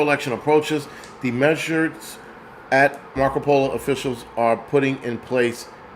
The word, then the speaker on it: Maricopa: Maricopa.